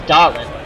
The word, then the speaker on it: Doolin: Bill Doolin, pronounced, I think it's Dolan.